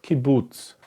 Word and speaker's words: kibbutz: So now we'll take a look at the vocal that is pronounced as oo, oo, okay, oo. So the oo sound is called kibbutz, kibbutz.